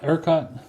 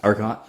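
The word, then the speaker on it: ERCOT: Urkott. Urkott.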